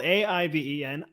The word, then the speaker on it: Aiven: Aiven, spelled A-I-V-E-N. Aiven is a pronunciation.